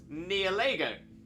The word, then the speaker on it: Nihilego: pronouncing it how it's pronounced near Lego near like nihilism Lego oh maybe Neil ego